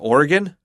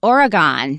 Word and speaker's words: Oregon: Uh Oregon? You sound like a native. And how do you say it? The way we mostly say it in the Midwest is Oregon.